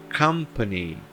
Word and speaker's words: company: Então eu não vou pronunciar essas duas palavras, esses dois momentos, come e co. Não vou pronunciá-los de forma diferente. Se eles têm o mesmo som, eu vou pronunciá-los da mesma forma. Então, company, company, culture.